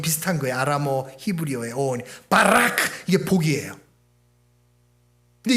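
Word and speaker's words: ברך: 히브리어로 뭐냐? 바라크라 그래요. 바라크. 한번 따 해보세요. 시작. 바라크. 복 받기가 싫으시구나. 바락을 해야 돼요. 바락. 그거 발음이 비슷해요.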